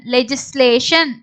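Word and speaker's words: legislation: ஸோ இக்கு கி சொல்லக்கூடாது, இங்க ஜே சவுண்ட் வரும். லே ஜி இஸ் லேஷன், லெஜிஸ்லேஷன்.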